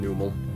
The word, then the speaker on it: Numel: I think it's pronounced Nummel, but I've always pronounced it Numel.